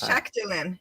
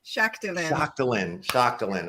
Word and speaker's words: Shaktilyn: It's Shaktilyn. Shaktilyn.